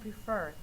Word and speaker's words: prefer: now check your work forget and prefer the last syllable second syllable is the stress syllable in the word for number three the